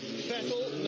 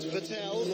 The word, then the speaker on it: Vettel: It's Vettel, not Vettel, like mineral water.